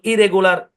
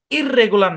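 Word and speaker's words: irregular: এরকম শুনেন, একই কনসোনেন্ট দুইবার থাকলে একটা কনসোনেন্ট ধরে উচ্চারণ করতে হবে। এখানে কিন্তু আর দুইটা আছে, এখানে কিন্তু এল দুইটা আছে। এটা ইললিগাল না, ইররেগুলার না, ঠিক আছে?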